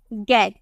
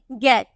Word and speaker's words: gate: जैसे कि अगर हमें बोलना हो GATE, तो हम इसे क्या बोलेंगे, हम इसे बोलेंगे गेट, हम यही तो बोलेंगे गेट।